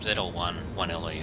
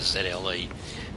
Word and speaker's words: ZL1 1LE: it's again it's the zle um zl1 1le i should say i'm sorry all the chevrolet fans out there and to chevrolet themselves i always call it the zle trying to save on on syllables so i'm going to